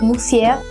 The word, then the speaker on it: monsieur: conversation, say words like monsieur, even if they mispronounce it as mousse, and several other locutions.